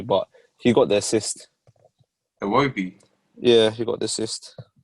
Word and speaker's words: Iwobi: Say it again. Iobi. Just say But W. Say a W Iwobi.